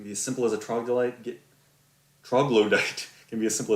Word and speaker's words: troglodyte: I'm saying trogdolite, which is my preferred mispronunciation of troglodyte.